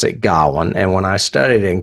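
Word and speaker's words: Gawain: lead Dev Patel plays Gowan and they do pronounce it Gowan and when I studied in college it was pronounced Gowan but when I read it I think in high school it was gain g Maybe is a Tennessee thing I don't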